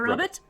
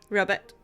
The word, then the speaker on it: robot: We have to pronounce it the way they did at the time. A robot. rubbbit.